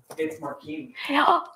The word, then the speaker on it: Marcini: It's Marcini. We've been pronouncing his last name wrong.